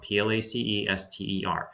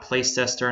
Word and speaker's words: Placester: in Paul SS and Sam at plaister comm PL AC es te R and that is pronounced place ster not place tester in that plat caster not place setter its place ster don't know where that name